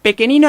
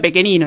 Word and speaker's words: Pechenino: Pequenino en realidad es como se pronuncia su nombre, porque el apellido es Pechenino, pero Pechenino. se pronuncia Pequenino en Italia.